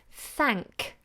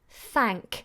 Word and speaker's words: thank: going to use often thank thank make sure this this a is nice and short ah that thank thank you thank